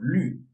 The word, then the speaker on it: 虑: So for this 虞, you have to do is, like you keep your tongue position like the pronunciation E, and then roll your lips like you are kissing. So you have 虞, so 虑。